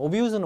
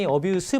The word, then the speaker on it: abuse: abuse는 원래 발음이 abuse 발음 나면은 명사고요. abuse 발음 나면 동사입니다.